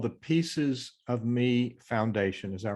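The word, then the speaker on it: Peaces of Me Foundation: So it's called the Pieces of Me Foundation, is that right? Correct. And it's spelled P-E-A-C-E-S, and that is a play on words.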